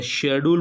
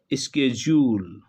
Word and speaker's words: schedule: British English में time table या शेड्यूल बोलते हैं, जबकि अमेरिकन इंग्लिश में स्केड्यूल बोलते हैं। स्पेलिंग शेड्यूल वाली होती हैं, लेकिन उच्चारण यहाँ भिन्न होता है। उच्चारण होता है स्केड्यूल, SCHEDULE, स्केड्यूल।